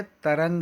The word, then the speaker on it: तरंग: जलधि अलग है, तरंग अलग है।